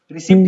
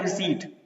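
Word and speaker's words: receipt: रिसिप्ट इसको तुम पढ़ सकते हो, लेकिन इसको पढ़ा जाता है रिसीट।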